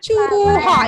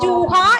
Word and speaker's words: चूहा: उसके बाद हम चूहा. इट इज नॉट जूहा, ये चा है. फर्स्ट चा.